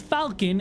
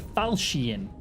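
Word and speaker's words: Falchion: is the Rog Belgian I think it's how you pronounce this not Falcon it's like the falcian um and that thing's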